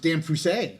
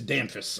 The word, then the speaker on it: Damphus: And he told me some people used to pronounce it Damphusset. Oh. And I like Damphusset. He's like, yeah, but my grandfather changed it to Damphus.